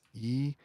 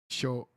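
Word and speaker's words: 一生: So it is isho, isho, isho, 一生、 isho.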